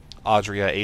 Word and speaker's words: Adria: Audrea, Adria, however you want to pronounce. I say Adria.